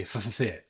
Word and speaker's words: FFFit: that's the actual name it's Universal FF fit so you got to say f fit because that's that's how it's that's how you say it I love this company